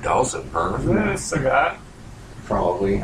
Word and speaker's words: Sagat: Sagat. Probably. I always say it because it rhymes with faggot.